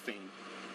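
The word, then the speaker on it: Phayme: P H A Y M E. Pronounced Fame.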